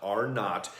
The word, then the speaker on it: R0: There was a study done where they looked, it's called R0, but you pronounce it not, R not, and it basically tells us how contagious something is.